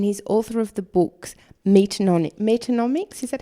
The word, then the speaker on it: Meatonomics: He's a lawyer, he's an animal advocate, and he's author of the books Meatonomics, is that how you're pronouncing it? Right. Meatonomics.